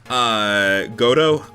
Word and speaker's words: Godot: So after that, and also, just so people know, yes, it is pronounced Godo. The T is, like, I used to say Godot,